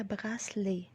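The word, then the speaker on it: bracelet: اسوره بتتنطق ازاي؟ بتتنطق براسلي. في هنا بس ما بنقولهاش براسلي، والتي طبعا ما بتتنطقش، فبنقولها براسلي مش براسلي. براسلي زي ما انا كاتباها كده.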